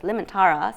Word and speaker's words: Liemantara: And my last name, nobody ever pronounced it right. It's Liemantara.